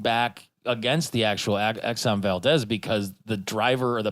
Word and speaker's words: Valdez: And like that was, I had to be referencing back against the actual Exxon Valdez because the driver or the pilot of that ship, or the captain, I guess, was wasted.